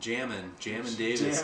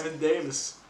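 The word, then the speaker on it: Jamin Davis: I believe they pronounce it Jammin Davis. Jammin Davis.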